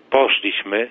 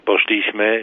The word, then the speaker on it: poszliśmy: mówi tą zamiast tę, gdy akcentuje przedostatnią sylabę zamiast trzeciej od końca w słowach takich jak poszliśmy czy widzieliśmy, mówi poszliśmy, widzieliśmy, lub polityka, matematyka, a